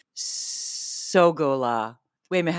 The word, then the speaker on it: Sogolow: I say it Sagalo the way my grandparents did, right? Sagalo. And your kids say and my best I have two guesses. They're only my hypothesis. I need to ask them. One guess is that it's because they got tired of people saying how do you spell that? So saying so go low, you know, makes it clearer.